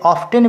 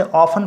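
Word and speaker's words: often: और हम लोग अक्सर देखते हैं, इसे ऑफ्टन भी पढ़ा जाता है और ब्रिटिश इंग्लिश में इसे ऑफन पढ़ा जाता है. टी साइलेंट भी रहता है, लेकिन डिक्शनरी में जो है दोनों ही तरह से लिखा रहता है, ऑफ्टन भी और ऑफन भी, लेकिन हम लोग ऑफन ही पढ़ेंगे.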